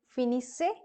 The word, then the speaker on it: finissez: Then vous finissez. Again, double S is sounded as se, and EZ is the sound of A.